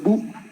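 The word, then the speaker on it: 武: El siguiente kanji que se encuentra en el centro es bu.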